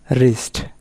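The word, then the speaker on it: wrist: এরপরে rule number 2, ডাব্লু এর পরে এইচআর থাকলে ডাব্লু এর উচ্চারণ হয় না। যেমন রাইট মানে লেখা, রাইটার মানে লেখক। রং মানে ভুল, রিস্ট মানে হাতের কবজি, রেসলিং মানে কুস্তি, রিট WRIT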